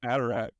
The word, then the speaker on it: Haderach: But I've always dropped the H off of it. It just in my head I can't pronounce it. So it's always the Cuisinart Haderach. I don't know why. I just like I can't do it. Wait, you don't say Haderach? Say Adderach? No, I say Haderach.